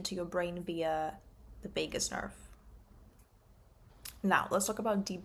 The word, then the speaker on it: vagus nerve: How do you pronounce vagus nerve?